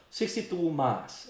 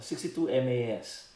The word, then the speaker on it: 62MAS: out of 1962 so 62 mass or 62 masas uh just pick how you would like to pronounce it or read it so 62 mass for me that's how I do it so that's basically where